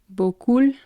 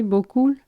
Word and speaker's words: beaucoup: But so beaucoup et beaucoup. Beaucoup. Beaucoup. Beaucoup is like probably what some English speakers would use to mispronounce the word beaucoup.